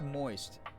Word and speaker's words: Most: Your favorite CEO, David Most, uh, pronounced moist.